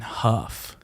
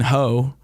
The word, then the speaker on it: Hough: And they're like, no, it's Huff. Huff. And we're Rhymes with like tough.